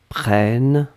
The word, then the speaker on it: prennes: prenne eux que tu prennes e s donc on est d'accord qu'on n'entend pas le s mais si vous voulez écrire correctement vous devez écrire avec le s à la fin pnn e